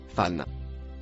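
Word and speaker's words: فإن: Le premier mot rouge se prononce fan.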